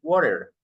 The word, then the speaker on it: water: No, in American English, we say water. Water. This T, we pronounce this T like an R.